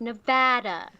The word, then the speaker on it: Nevada: no we cannot debate we cannot debate the pronunciation of nevada because there is no debate it is bad yes i'm aware it is a spanish word and therefore should be pronounced nevada but i don't care because it is nevada the end whole podcast done boom